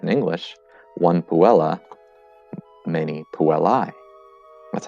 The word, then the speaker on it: puellae: we pluralize that in english one puella many puellae that's how you pronounce it by the way one willa many